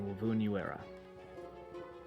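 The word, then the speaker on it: Wy'vun Yu'era: And this is a character of mine, Wovoon Uera.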